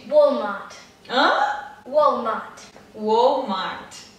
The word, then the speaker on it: Walmart: É a Walmart. Walmart. Hã? Walmart. Walmart. Tá vendo? De novo a história do t, t, t. Bem delicado, né?